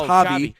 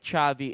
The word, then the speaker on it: Xavi: Xavi, I imagine that's Javi. Chavi Chavei. Chavei. Chavei. All right. Sorry, dumb dumb American over here.